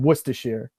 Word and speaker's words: Worcestershire: know the origin but it is Worcester and Worcestershire mm-hmm yeah okay Wow thank you so much